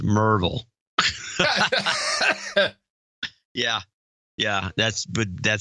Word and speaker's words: Maryville: with enclosure DeLozier enclosure from Maryville pronounced Merville yeah yeah that's but